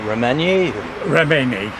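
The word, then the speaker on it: Reményi: Well, how do you pronounce that? Remenyi.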